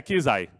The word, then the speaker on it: Quizai: Pedro quizá, viu, Neto, ele pensou que eu ia errar o nome porque se escreve diferente, mas deu vontade de dizer o quizá, mas é quisai.